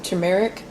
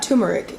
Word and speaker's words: turmeric: ground ginger and some turmeric turmeric it's not tumeric why don't you guys